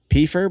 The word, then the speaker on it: Peiffer: It's spelled Peiffer, but it's pronounced Peiffer.